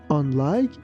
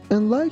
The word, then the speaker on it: unlike: Unlike his older brother, Jim is short. Here be careful that letter U is pronounced like a. That's why we say unlike, unlike.